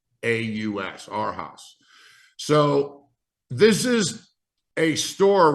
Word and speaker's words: Arhaus: But today, what we're seeing is, for example, there's a store out there called Our House. It's spelled ARHAUS, Our House.